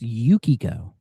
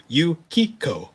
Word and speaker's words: Yukio: They even give him a second take or go like, "Oh, sir, it it's it's pronounced Yukio." Oh, he literally he he literally calls her Yuko and I'm just like, "Oh god."